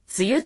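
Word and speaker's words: 梅雨: 梅という字と雨という字で、梅雨と読む特殊な言葉です。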